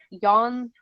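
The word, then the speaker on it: 四: Well, apparently the numbers 4 and 9 are considered unlucky in Japanese. 4, when pronounced she or shy, sounds like the word for death. And 9, when pronounced ku, sounds like the word for suffering. So often pronounced yon and kaigu instead.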